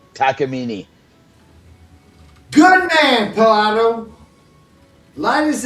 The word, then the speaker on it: Takamine: He said Takamine is pronounced tacamini. Takamini.